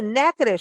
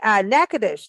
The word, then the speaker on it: Natchitoches: Hey, everybody, welcome to Big Blend Radio's third Tuesday Go to Natchitoches show. And Natchitoches, now that's a name, isn't it?